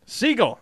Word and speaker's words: Siegel: Siegel. Okay. Siegel. So All it's right. not the action hero, but the bird.